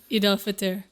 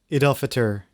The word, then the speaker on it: Eid al-Fitr: How do you pronounce this? Eid al-Fitr. Eid al-Fitr, which is the festival of breaking fast.